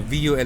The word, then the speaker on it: VUL: kailangan nilang tandaan dito vul ang pronunciation Hindi wol no ko sa naririg